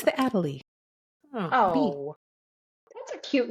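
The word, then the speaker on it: Adélie: It's the Adalie. Oh, that's a cute name. Adalie. I think that's how you pronounce it. A D E L I E.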